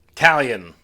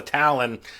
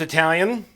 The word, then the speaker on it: Talion: my last video because i was calling it a talon and there's an eye in there i'm i know guys